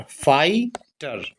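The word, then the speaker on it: fighter: यहाँ पर देखिए GH पूरा साइलेंट है। TER टर, फाइटर।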